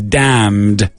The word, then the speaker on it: damn: I'm just going to read some sentences in English now, and you're going to hear loads of words with a silent M.